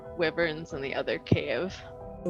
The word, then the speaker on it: wyvern: were at least 3 wyverns in the other cave. Oh, there were wyverns down there. Yeah. Weaverns. wyverns. Wyverns. How do you say it, Greshy? It's wyvern.